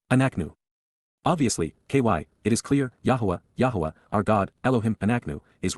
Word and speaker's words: Yahowah: And so, Yahuwah, the proper pronunciation of Yahuwah, our Eloah, God as directed in his Towrah,